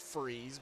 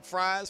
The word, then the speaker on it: Fries: That would be pronounced freeze, but it's okay. Oh, freeze! Sorry, I read that backwards. My bad. It's pronounced freeze, but I've done the same thing. Sorry, Kevin. Trust me, when I seen him, I called him Fries for I don't know how many races, and he finally, it's pronounced freeze, man.